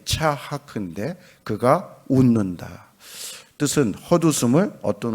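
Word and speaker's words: יצחק: 이삭은 원래 발음이 차하크인데 그가 웃는다.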